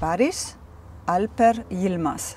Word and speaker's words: Barış Alper Yılmaz: Barış, Barış Alper Yılmaz. Oh, that's really good pronounced.